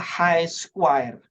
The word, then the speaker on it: chi square: coba bangun ya menggunakan Chi square bacanya high Square jadi Square ya huruf-huruf abjad Yunani ya trik letter ya bacanya